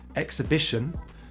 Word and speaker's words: exhibition: And we don't always say the H after EX: exhilarating, exhausting, exhibition, but we do say it in exhale.